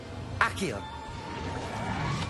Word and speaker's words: Accio: Accio.